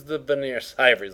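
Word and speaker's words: Vigenère: That first word. Vigenary. It's actually veneer cipher, but it looks like Vigenary.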